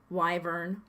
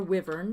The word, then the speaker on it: wyvern: going to deal with a grumpy hungry wyvern or wyvern depending on your pronunciation he's rather rude even